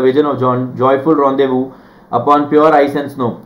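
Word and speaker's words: rendezvous: With the vision of joyful रॉन्देवू upon pure ice and snow, joyful रॉन्देवू मतलब रॉन्देवू is meeting, it इज रॉन्देवू, इसको रॉन्देवू बोला जाता है।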